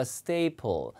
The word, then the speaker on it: staple: 자, stay 발음이 제가 이중모음이라고 그랬어요. 스테가 아니라 staple. staple.